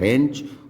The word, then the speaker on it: wrench: यही कह बैठेगा RINCH, जबकि WRENCH उसका सही प्रोनाउंसिएशन है रेंच, और WRENCH है उसकी स्पेलिंग।